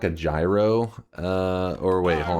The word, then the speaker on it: gyro: place, which I know some people are like they end up saying it's what's like euro or something like it's gyro, damn it.